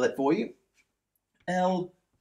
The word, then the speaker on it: Lorentz: L-O-R-E-N-T-Z. Lorentz, not Leventz. Lorentz.